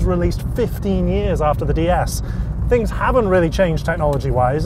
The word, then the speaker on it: DS: The name in French, Citroen's home country, is pronounced DS, which means goddess.